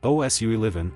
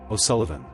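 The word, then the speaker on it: O'Sullivan: In the US, you'll hear things like osu or os lh von. The corrected version is closer to os lan. S u ll like sullen then uh then vun. Os lun. Now say it smoothly. O sullivan. Memory trick. Don't chase the spelling. Treat the middle like a quick soft uh Sullivan. Not Sulivven.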